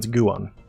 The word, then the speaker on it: Guon: It's G-U-O-N, and it's pronounced Guan.